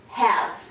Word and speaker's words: have: Nós não falamos have e nós não falamos love. Oh, hey, a. Nós falamos have. É claro que nós não pronunciamos aqui também nem o sinal do I em nenhuma das palavras, mas deixa de ser uma long vowel sound. Ela passa a ser uma short vowel sound.